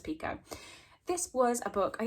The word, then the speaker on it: Picoult: I never know how to pronounce this. The audiobook says Pico.